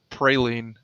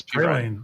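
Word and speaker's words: Perine: I keep wanting to pronounce it Praline, but I know it's Pirine.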